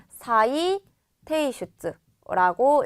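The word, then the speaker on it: 再提出: 다시 제출하는 거 우리가 사이 테이슈츠라고 읽어줄 수가 있어요.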